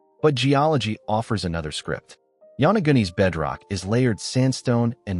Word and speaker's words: Yonaguni: Locals call it the Yonaguni Monument, pronounced Yonaguni.